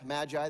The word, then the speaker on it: magi: looking through the list magi magi that's how we pronounce that and so if you